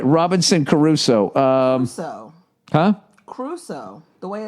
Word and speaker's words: Crusoe: Crusoe. The way it's spelled, Crusoe. Robinson Crusoe? Everyone says Robinson Crusoe, but it looks like Crusoe. I say Caruso because I always think of Ray Carruth.